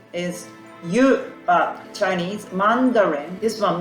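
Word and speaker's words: 湯: So this one, Japanese meaning hot water, pronunciation is yu, but Chinese Mandarin.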